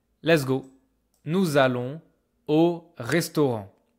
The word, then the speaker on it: restaurant: Careful about the pronunciation. This is not restaurant. This is not restaurant. I don't hear N. I don't hear T. OK. The A. They make this single nose voile en au restaurant.